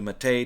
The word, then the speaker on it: MATE: install ubuntu with the mate desktop or the mate desktop whatever you call it i don't care i call it mate because that's what wimpy calls it and he developed the